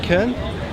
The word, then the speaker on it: Köln: Is it Köln?